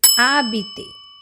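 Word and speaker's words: habiter: So now we can do one more verb that is abet. Yes it is not habit. Haha. No because letter ash that is letter H is silent letter.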